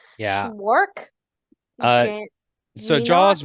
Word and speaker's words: Szwarc: And then the second movie is someone named Janot Swark. Schwark, Swark. Schwark, Apologies for not being able to Zwark. pronounce that. Yeah. That's pretty. It's Szwarc, for those of you who might know how to pronounce that.